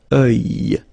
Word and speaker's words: œil: Strange combination of vowels here, okay, and then you will get the sound and then y, oeil, alright, and it's masculine, by the way. Un oeil, l'œil, okay.